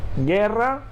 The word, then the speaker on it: guerra: Por ejemplo, guerra o guitarra. Aquí, atención, la U no se pronuncia, ¿sí? Por eso decimos guerra o guitarra. No decimos guerra o guitarra. La U no se pronuncia nunca.